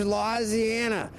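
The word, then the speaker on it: Louisiana: come into you from Baton Rouge lisiana yeah that's how they say it down here in fact speaking of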